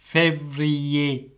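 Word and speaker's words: février: ரெண்டாவது மாதம் ஃபெவ்ரியே, ஃபெவ்ரியே, ஃபெவ்ரியே. பார்த்தீங்களோ, அப்போ இதில் கடைசியில் ஏ ஏர் வருகுது. அப்போ நாங்கள் ஏ என்று உச்சரிக்கிறோம். அக்ஸோ ஏ ஃபே என்று சொல்லி அக்ஸோ ஏகியூ வருகுது.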